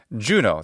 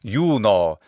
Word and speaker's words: Juno: And his beloved sister wife was, of course, Juno, the English pronunciation of that Roman goddess. Juno in Latin.